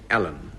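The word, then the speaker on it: Alleyn: Dilys Powell, Chief Detective Inspector Roderick Allen, and it's spelled A-L-L-E-Y-N.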